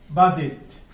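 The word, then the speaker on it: budget: নম্বর rule যে সাধারণত ডি জি ও ডি জে পাশাপাশি থাকলে ডি উচ্চারিত হবে না অর্থাৎ এই ডিটা হবে সাইলেন্ট লেটার ওকে যেমন বাজেট এই বাজেট শব্দে আমরা দেখব যে এই ডিটা সাইলেন্ট আছে কি আছে সাইলেন্ট আছে অর্থাৎ ডি এখানে উচ্চারণ করা যাবে না বাজেট অর্থ হচ্ছে আয়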